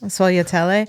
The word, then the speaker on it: sfogliatelle: and then Tara, the one I can never pronounce. Sfogliatelle? Yes. Sfogliatelle.